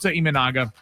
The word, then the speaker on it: Imanaga: Show Imanaga. I said it right.